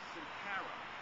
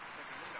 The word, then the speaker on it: Circolino: So with that, I would like to ask Sincara. Did I pronounce that right? Circolino. I apologize.